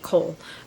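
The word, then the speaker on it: Chaol: guard kale or Co I still think I want to pronounce it Cole but the pronunciation video I watch it said kale so I want her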